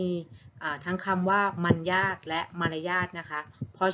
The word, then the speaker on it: มรรยาท: ไป แล้ว นะ คะ มอ ม้า รอหัน ยอ ยักษ์ สระ อา ทอ ทะ หาน อ่าน ว่า มัน ยาก ไทย นะ ซึ่ง หมาย ถึง